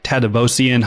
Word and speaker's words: Tadevosyan: We are your host, Michael and Courtney Weaver, and we have a special guest with us today, Tadevosyan. how are you? I am great, and you pronounced my last name perfectly.